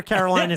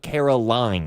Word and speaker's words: Carolina: I'm not putting P-Town or Carolina squat in my search engine. I will. It's research. It's Carolina, not Caroline.